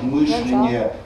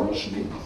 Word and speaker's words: мышление: Ни один из вас не произнес вариант мышления, который допустимый в русском языке. И в нем нет ничего плохого, потому что в глаголе «мыслить» ударение на первом слоге. В существительном «мысль» ударение на первом слоге. Так что мышление – это вообще-то для русского языка было бы нормально. Но так уж сложилось, что более распространенным стал мышление. Ну и так далее.